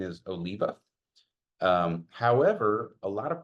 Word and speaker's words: Oliva: the correct pronunciation is Oliva um however a lot of people say Oliva because depending on where you put the accent that's an actual last